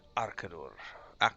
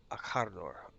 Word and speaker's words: Akardor: Allow me to introduce Radir, Sigilith, and Arkador. Sorry, I pronounced that wrong. Radir, Sigilith, and Akardor. Akardor, I think is how that would be pronounced. Akardor.